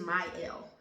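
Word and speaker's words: Mielle: use this my L I said meal in the last video but someone corrected me and said it's pronounced my L at least a friend of mine so maybe she's right I don't know we'll see you tell me is it pronounced my l or me but anyway it's m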